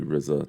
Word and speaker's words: RZA: for that and uh correct you on the RZA it's actually Rizza that's how you say his name but that's okay all